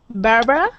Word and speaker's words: Barbara: that R Bar and we actually pronounce that barb r no so we don't pronounce the that uh the middle a we don't say well